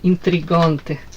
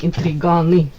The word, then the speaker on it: интриганы: Интриганты. Не, интриганы, правильно говорить.